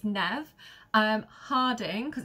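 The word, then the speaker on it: Neve: got Nev it's not Neeve you don't pronounce the E it's nev um Harding because it's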